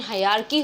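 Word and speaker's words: hierarchy: इस वर्ड का pronunciation हायरार्की होता है, हायरार्की, जिसका मतलब सीक्वेंस या सीरीज होता है।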